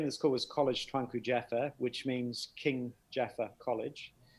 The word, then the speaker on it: Kolej Tuanku Ja'afar: so the the name of the school was college twanku jeffer which means king jaffa college uh jaffa was